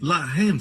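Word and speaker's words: לָחַם: Mesma escrita, a única diferença é a pontuação. Eles colocam os pontos em diferentes lugares. Um é Lehem, o outro é Lahem.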